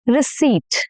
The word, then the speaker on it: receipt: Receipt. Receipt. And not receipt. No. No. Receipt.